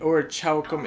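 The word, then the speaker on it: Orichalcum: Wait, the ch and or chalum is pronounced like a K.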